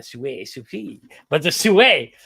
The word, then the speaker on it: Sui: ones you mentioned, but you said it wrong, Sue, it's a French one. Sui, but the Sue, right?